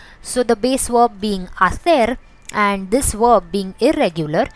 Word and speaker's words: hacer: The H is silent as always, so the pronunciation of this part is A, not Ha but A, and the C is pronounced as TH of English.